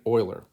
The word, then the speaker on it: Euler: so let's have some respect for the great oiler anyway euler solved this puzzle the town of